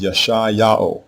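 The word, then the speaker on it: ישעיהו: So we pronounce his name as yashi yao which means yao saves because the verb Yesashai means to save.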